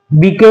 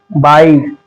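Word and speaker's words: bike: जब भी इ आए वर्ड के लास्ट में जब भी इ आए तो हम इ को साइलेंट करते हैं यानी उसको नहीं प्रोनाउंस कर लिया जाता है जैसे इसे बिके नहीं इसे लाइके नहीं इसे नमे नहीं इसे चेंज नहीं इसे गमे नहीं क्या पढ़ेंगे इसे बाइक लाइक name change game इस तरीके से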